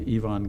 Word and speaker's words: Ivan: Turns out that Marsha's uncle was a man named Ivon Getic. First name spelled the same as mine, but pronounced in the proper way.